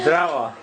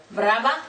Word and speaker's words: zdravo: Zdravo. Brava?